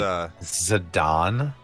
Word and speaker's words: Zidane: Zidane versus Kuja. That's another thing. Zidane is Wait, Zidane? yeah. That's the What? official pronunciation is Zidane. Like Oh my Zinedine God. Zidane from the French Dude, soccer player.